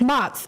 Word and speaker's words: Mott's: It's Mott's. M-O-T-T''S. Oh, like Mott's applesauce or something like that.